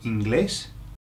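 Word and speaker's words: inglés: a glass okay and just be aware look at the accent Eng Eng okay because if you put the word the accent on the I it changes the meaning to crotch so you don't want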